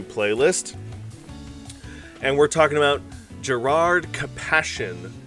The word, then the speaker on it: Gerrard Capashen: and we're talking about Gerard kassion uh I'm that's how I pr have always pronounced this card I'm pretty sure that's how it's pronounced but let me know in the comments if you guys say it differently Gerard compassion is a